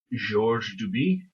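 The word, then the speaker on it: Georges Duby: many many books by I think he would pronounce his name is Georgie doobie he is French so that should give you some explains why the S is on the end of George the last name I'm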